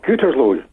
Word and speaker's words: Gütersloh: Is it Gütersloh? Is that how I pronounce it, John? It's Gütersloh. OK, well, I got that wrong.